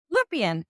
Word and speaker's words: Lupien: excited to have friends how do you say your last name lupient oh just like it's spelled who is amazing he's